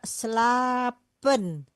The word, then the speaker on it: slapen: Di sini juga slapen. Dibacanya panjang.